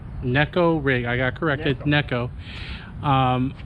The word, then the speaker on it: Neko: rig i got corrected necco um some people pronounce it as nico but it is pronounced as necco and it does get